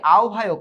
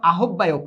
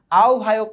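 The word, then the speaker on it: আহ্বায়ক: করার নতুন ঘোষণা প্রদান করে এবং আব্দুল মতিনকে আওভায়ক করে এটার উচ্চারণ কিন্তু আহববায়ক না এটার উচ্চারণ হচ্ছে আও আভায়ক আওভায়ক এটার উচ্চারণ আওভায়ক করে পাকিস্তান সংগ্রাম পরিষদ নতুনভাবে গঠন করে তার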